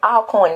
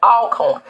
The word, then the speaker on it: Alcorn: Just like y'all come down here saying Alcorn, and it irritates the hell out of me. It's Alcorn, you gross. Alcorn.